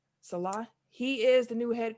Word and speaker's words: Saleh: Robert Saleh, is that how you pronounce his last name? Salah.